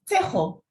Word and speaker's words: Tejo: It's from is it Chego? Am I pronouncing it correctly? Yes, you are. Tejo.